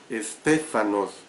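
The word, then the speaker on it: στέφανος: La palabra del idioma griego que se usa aquí es estéfanos, con S al principio y H intercalada, por eso lo pronuncio estéfanos.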